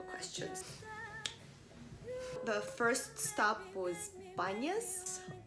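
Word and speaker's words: Banias: The first stop was Banyas. Arab people named it and they don't pronounce P.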